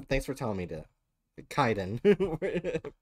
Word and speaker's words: Kaiden: for telling me to Kaiden cadences yeah a Nubian it's Kaiden because uh yeah it's